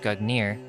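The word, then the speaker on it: Gungnir: the past Nordic gugnir Old Norse gugner swaying pronounced gugnir is the name of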